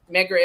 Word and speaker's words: Medgar: Oh, like Edgar? Medgar?